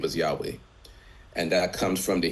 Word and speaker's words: Yahweh: So, we pronounce his name as Yahweh. Many people pronounce his name as Yahweh and that comes from the Hebrew text.